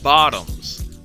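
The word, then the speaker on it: Votoms: But whenever the word Vautums is used, it deliberately makes use of the Japanese tendency to muddle the pronunciation of the letter V with the letter B, to pronounce it as Bottoms.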